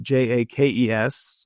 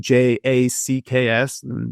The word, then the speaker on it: Jaques: But some who wrote her name spell it Jakes, so Jaques. Mm-hmm. Some Jacks, Jaques maybe. Some Jackaways, like a Jacques, like maybe more of a French pronunciation.